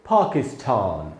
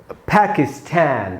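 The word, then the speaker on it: Pakistan: British में इसको बोलेंगे पाकिस्तान, पाकिस्तान। इसमें टा में जो आ है वहां पर स्ट्रेस है, वहां ज्यादा रुक रहा है, इसको हम पढ़ेंगे पाकिस्तान। और अमेरिकन में पढ़ेंगे पाकिस्तान, उसमें ठा में जो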